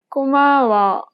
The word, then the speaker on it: 고마워: 고마워. She kept the same pitch for the first and second syllable, but lowered the tone for the last syllable.